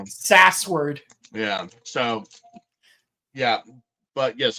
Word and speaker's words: Sasword: so yeah yeah yeah like so was like SAS word SAS word yeah SAS word yeah SAS word